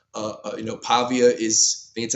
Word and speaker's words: Pavia: They had a, you know, Pavia is, that's how you say his name.